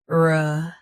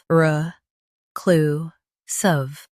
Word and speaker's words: reclusive: Both US and UK have the same pronunciation of this word. Stress cl. Keep r soft and suf light. RECLUSIVE. RECLUSIVE.